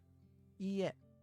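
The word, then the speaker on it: いいえ: When dealing with repeated vowels such as e, you draw out the length of the sound. It is not quite the same as repeating the vowel twice. Listen carefully to the example pronunciation. Yeah, so it's ie and not ie. It's not the same. It's ie. Let's look at our next word.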